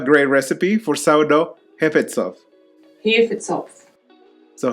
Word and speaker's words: Hefezopf: Hefetzopf. So how do you say it? Hefetzopf. Okay, just come and help me. Okay, here's my wife to say it in proper German. Hefezopf.